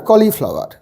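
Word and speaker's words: cauliflower: summer cucumber tomato vegetables of winter carats R কলিফ্লাওয়ার কলিফ্লাওয়ার বানানটাও একটু কঠিন কিন্তু লেখো না লিখলে কোনদিন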